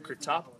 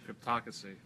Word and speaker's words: Cryptocracy: Sapien, Aliens Defiance, new chapter of Kratop. Ooh, I butchered the pronunciation there. I'm sorry, Van Jensen. Kratop. Wow. John, help me out here. How would you pronounce it? Cryptocracy. Cryptocracy. There we go. Third time's a charm.